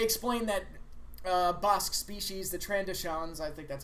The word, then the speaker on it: Trandoshans: pillow and they explained that Bosque Species the Trandoshans that's how it's pronounced they hunt walkies and their whole society